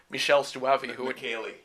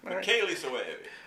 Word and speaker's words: Michele Soavi: film from that era called Stage Fright by Michele Soavi. Michele Soavi. Oh, okay, sorry. Michele Soavi. I love to pronounce his name, so okay, well, good.